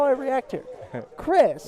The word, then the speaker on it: Kris: Kris. It's my pleasure. I know it's spelled with a K, but it sounds like a C.